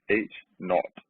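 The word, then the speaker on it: H₀: so the null is H Severus pronounced H naught it always contains equality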